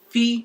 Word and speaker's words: f: F, pronounced as fee, which is fee, like you want to pay your school fees.